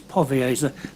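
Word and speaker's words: Powierza: it marek m-a-r-e-k yes povioza r p-o-w-i-e-r-z a powerful it's a v in there yes it's pronounced v it's it's pronounced as povasa but it's p o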